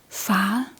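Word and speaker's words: fare: a a danger a you don't say ar a we say ah A fa danger.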